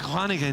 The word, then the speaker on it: Groningen: Groningen was How was my pronunciation?